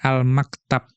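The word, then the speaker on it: المكتب: Wal maktabu, dan dimaksud dengan maktab bi fathil mimi wat ta'i, dengan memfathahkan mim dan ta, ya bacanya al-maktab.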